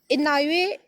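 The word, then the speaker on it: Inouye: Next is इनॉये। अब देख लो इसको प्रोनाउंस कैसे करना है, इनॉये सोलर टेलीस्कोप।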